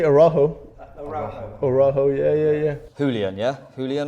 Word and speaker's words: Araujo: So how is your surname actually pronounced? Araujo. Araujo. Oh, you can say Araujo.